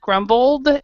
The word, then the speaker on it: grumbled: So the E is silent, groaned, E is silent, grumbled, E is silent.